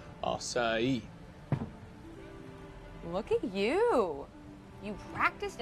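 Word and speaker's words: açaí: It is pronounced acai.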